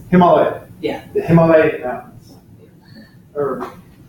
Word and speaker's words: Himalaya: So it's Himalaya.